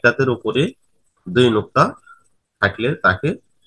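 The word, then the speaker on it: تاء: তা হরফের উচ্চারণ জিহ্বার আগা ও সামনের উপরের দুই দাঁতের সানায়ে উলিয়ার গোড়ার সাথে লাগিয়ে তা উচ্চারিত হয়।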